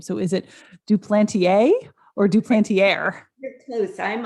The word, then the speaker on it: Duplantier: name so is it duplantier or duplantier you're close i'm um i'm a duplantier through marriage it's a french name so it's yes yes duplantier welcome to better than